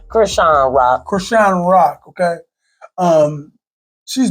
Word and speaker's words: Chrisean Rock: Well, Chrisean Rock, how you pronounce her name? Chrisean Rock.